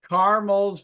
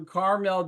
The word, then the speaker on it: caramel: Cindy sent me caramels for National Caramel Day. What's that right way to say it, Cindy? Caramel or caramel? Whichever you want. Okay, I'll do both.